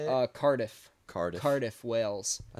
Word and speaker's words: Cardiff: Cardiff. Cardiff. Cardiff, Wales. I said Pardif.